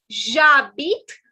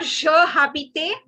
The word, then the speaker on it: j'habite: It is not je habite, it is j'habite. Like in Hindi, we have the word ja. Say j'habite.